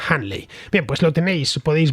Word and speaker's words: Hunley: Handley se escribe Hunley, Hunley, es que pronunciado en condiciones, vamos. Pero bueno, en inglés creo que se pronuncia algo parecido a Handley.